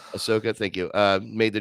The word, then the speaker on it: Ahsoka: uh ashoka is how you say your name ashoka ahsoka thank you uh made the jump from animation